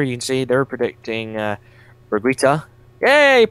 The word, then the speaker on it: Berguitta: and so here you can see they're predicting Brigitta a pronounced it right weeks on high for once